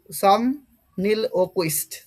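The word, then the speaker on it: somniloquist: পরে দেখো এটার প্রোনাউন্সিয়েশন কি হবে? সমনিলোকুইস্ট, সমনিলোকুইস্ট।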